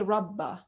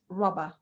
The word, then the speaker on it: rubber: have like uh shadda in english we don't say rabbah it is rubber rubber okay now the